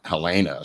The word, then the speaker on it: Halyna: he didn't want to she's got a weird pronunciation it's not elena it's like helen helena something it's h-a-y-l-n-a only his wife can